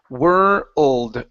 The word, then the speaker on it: world: try that word world make sure to pronounce the d sound at the end world world world okay good